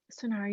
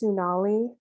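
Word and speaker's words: Sunari: My name's actually pronounced Sunali with an L. It's spelled with an R, but it's spelled with an L.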